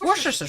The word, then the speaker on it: Worcestershire: It's Worcestershire sauce. Worcestershire sauce. Ghosty says, yeah, I'd be deeply offended if you pronounced a word of a dead language wrong.